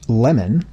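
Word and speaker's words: Lamon: Lemon, which surname you'll note is said to be pronounced with a short e sound even though it's spelled with an a, published a biography of Lincoln in 1872.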